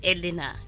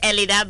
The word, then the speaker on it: Elidah: No, actually, my name, Elida, not Elina. Oh, Elida. No, forgive me. I'm just reading as per producer's script. Yeah. So the name is Elida, but then the name of the restaurant is Twaala.